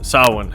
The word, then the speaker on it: Samhain: So I released a video just earlier this week about how the Norse pagans celebrated their version of Halloween, or Samhain, or Samhain it's pronounced.